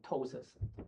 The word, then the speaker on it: ptosis: 啊，这个是 tosis， Tosis。这个 P 没有用的，这是 TOSIS，tosis。